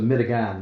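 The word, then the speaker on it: medigan: was considered and and this was their pronunciation of American it was a mitigan.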